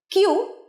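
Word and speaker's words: queue: কিউ যে বানানটা দেখছো, কিউ ইউ ই ইউ ই, এটার উচ্চারণ কিন্তু কিউ।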